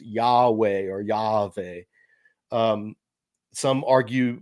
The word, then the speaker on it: Yahweh: So Yahweh is how you would say it, but they didn't want you.